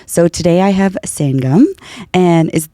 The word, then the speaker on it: Sangam: So today I have Sangam, and did I pronounce that right? No, you pronounce it for me. Okay. It's Sangam. Sangam. Okay. Yeah, perfect.